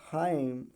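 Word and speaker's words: hymn: पढ़ा जाएगा ठीक है यम है यानी साइलेंट हो जाएगा तो हाइम हाइम डैम dam Damon नहीं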